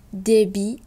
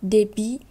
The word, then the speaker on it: débit: Granit, débit, crédit, déficit, concept, dite. Alors ici, on a les deux mots débit et crédit qu'on ne prononce pas le T et les autres, on va prononcer le T.